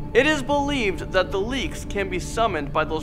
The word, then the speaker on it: Leyak: Moving into number 4, we have the Leyak, or in Indonesia, people call it leek. They don't like to pronounce the Y.